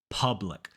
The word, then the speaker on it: public: public in this word the U makes an uh sound uh P public so don't round your lips don't make that ooh sound uh public and try